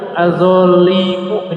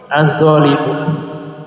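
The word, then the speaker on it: الظالم: Oh iya, afwan Bapak Ibu, al-zolimu ini bacanya apa? Az-zolimu. Kenapa dibaca az-zolim?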